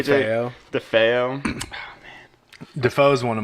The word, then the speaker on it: DeFeo: I believe so, DeFeo. I think I misread it when I first read that name, and I just kept saying Defoe.